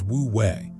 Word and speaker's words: wu wei: Pronounced roughly as woo way, woo way is typically translated as non-action or non-doing, and almost everyone misunderstands it immediately.